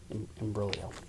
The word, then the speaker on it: imbroglio: ridiculous expository hmm beautiful imbroglio burly oh I think I don't think you pronounce the G imbroglio appealing existential grave delectable